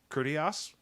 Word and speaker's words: Critias: Is it Timaeus and Critias?